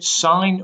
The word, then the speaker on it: sine: but this lesson is on the sign ratio you may never even have heard of